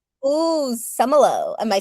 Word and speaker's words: Szumylo: It's Semmelroth. I always tell people to remember it phonetically. The Z is silent but some are high, some are low. Semmelroth. Ooh, Semmelroth.